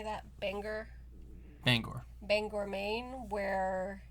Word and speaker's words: Bangor: Bangor.